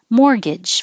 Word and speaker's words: mortgage: Mortgage. Forget about the T. It's too hard to say. Mortgage. Mortgage, which is what it looks like, but it's mortgage.